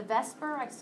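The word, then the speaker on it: VSEPR: along to something you see that V the Vesper I pronounce it Vesper but really it's v e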